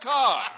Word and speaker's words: Deborah Kerr: Empire and I include Douglas Fairbanks Jr and Deborah Kerr pronounced Carr you're had a r nice block to say